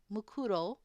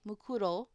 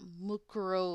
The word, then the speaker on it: Mukuro: Oh god, why'd you have to pronounce it that way? What is it with you Americans? Says an American. It's mukuru. Mukuro. Okay. Mukuro ikusaba, not mukuru or whatever she just said.